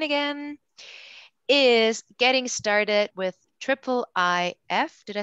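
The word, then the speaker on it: IIIF: share my screen again is getting started with triple i f did i say it right elias yes with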